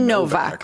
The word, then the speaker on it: Nowak: It is Nowak. What do you think it is? I think if you pronounce it ethnically, it is supposed to be Novak, huh?